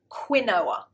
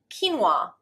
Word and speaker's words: quinoa: Now, British people often pronounce this word quinoa. It's not. It looks like it, it really does, but the actual pronunciation is quinoa, quinoa.